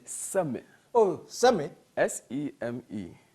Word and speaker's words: Seme: S-E-M-E. Seme. I pronounce it Seme.